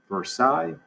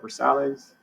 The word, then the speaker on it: Versailles: of versailles they're sally's don't pronounce the way it looked pronounce it the way it's supposed to be pronounced which is versailles if i hear you call it for sales so versailles palace you